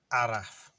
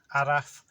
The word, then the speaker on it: araf: of the day is araf which i can spell this one on the screen because if you read it in english you'll say it right so it's really even is simple adaf a-r-a-f i'm sure you've